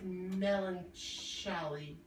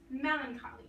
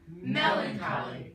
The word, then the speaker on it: melancholy: What is melancholy? That was a good try, but it's actually pronounced melancholy. Let's say it together. Melancholy.